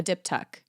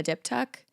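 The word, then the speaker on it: diptych: y c h a dip tuck a dip tuck I Googled the pronunciation and I still don't think I'm getting it right but it's a dip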